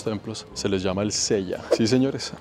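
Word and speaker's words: cella: se les llama el Sella sí señores así como Sella el de Caballeros del Zodiaco hermano el mismo Sella pero se escribe distinto c e l l a y venían aquí a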